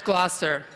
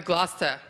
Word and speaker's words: Gloucester: And it's Gloucester. So that was 20 years ago, and now I've learned that it's actually Gloucester. Half of it doesn't get pronounced.